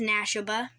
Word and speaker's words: Nashoba: poppo gray wolf and his name is Nashoba you spell Nash and then put ob-a at the end and that's how you say his name and that was how you say His Name-O anyway this is Nexus